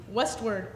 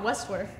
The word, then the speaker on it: Westward: Westward. It's not that hard to say. West and word, not Westworth.